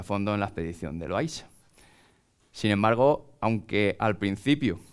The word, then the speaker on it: Loaysa: Incluso ni siquiera hay, lo verán escrito con la Y o con la I latina, se pronuncia Loaysa.